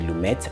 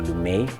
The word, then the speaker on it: Lumet: pacino directed by sydney lumet or lou may whichever you pronounce it written by frank pearson